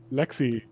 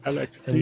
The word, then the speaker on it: LXD: And the first learning for me is I finally know how to pronounce Lexi. Lexi. I always said LXD.